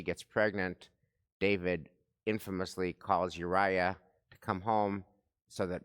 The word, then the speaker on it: Uriah: Uriah.